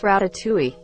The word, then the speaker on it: ratatouille: mind that's the thing I can never find ratatouille ratatouille II not really but English people struggle with a sound Hill in French it's really pronounced ratatouille well that's the closest I can do haha